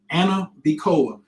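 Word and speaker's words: Ana Bekoach: Anna Bacoa. It looks like Anna B Coach with a K, but it's pronounced Anna Bacoa.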